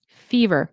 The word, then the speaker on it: fever: Um have a fever. Okay. So, fever. It's where the stress is. FE. Fever. Fever.